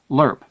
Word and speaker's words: LRRP: LST troop Landing ship lurp the slang term for l R RP derived from the pronunciation of the acronym LZ Landing zone for